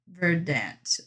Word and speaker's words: Verdant: Verdant. I don't know. Emphasize on first syllable, not second syllable.